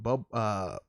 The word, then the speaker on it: Bublé: Bublé.